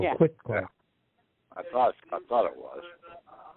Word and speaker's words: quit claim: up yesterday, the Ecclesiastical Quiet Claim Deed. Oh, okay, the one you talked about. That's the big thing, okay? Hey, Patrick, you call it quiet claim, but you spell it quit claim.